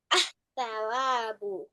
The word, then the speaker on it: الثواب: Asawabu.